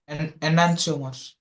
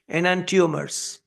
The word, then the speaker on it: enantiomer: I was also saying enantiomer for a long time until I found the actual pronunciation. They are saying enantiomer. I was really surprised when the native speakers are saying enantiomers. So I had to change my pronunciation, enantiomers.